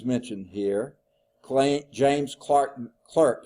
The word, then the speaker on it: Clerk: here CL James Clark clerk it's really it looks like it's Clark but it's pronounced Clerk Maxwell named they named